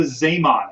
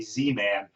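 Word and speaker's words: Zeeman: what's known as the zamon effect all right it's spelled z-e-e-m-a-n looks like it might be z-man uh but he was dutch so it's sema all right um the zaymon effect uh is something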